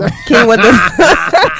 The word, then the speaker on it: quinoa: Okay, look, if you were ever at a restaurant and your waiter or waitress pronounces it like it's spelled, I just wouldn't trust their advice. I'm sorry. You can't. Yeah. Quinoa, not quinoa.